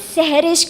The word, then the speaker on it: Seherish: It is Seherish. It rhymes with cherish.